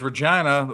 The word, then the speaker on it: Regina: there's Regina, rhymes with fun, and there's Edmonton, rhymes with Does Edmonton.